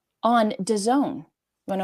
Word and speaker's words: DAZN: which you can watch for free on Done. Want to know how to spell it?